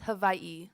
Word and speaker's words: Hawaii: start yeah so it's not pronouncing Hawaii it's pronounced Havi so it's also not Honolulu it's Honolulu it's